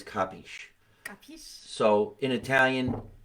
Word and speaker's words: capisci: The C's, instead of having that cheap dura or like that hard C sound, they're going to change it into a G, and that's very Southern Italian when they do that.